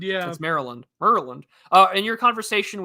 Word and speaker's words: Maryland: no one it's like no one in America calls it Mary's land um Maryland yeah that's Maryland Maryland uh in your